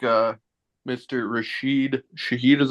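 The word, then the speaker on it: Rashid Shaheed: and a half okay I like uh Mr rashed Shahid is how you say his name yeah yeah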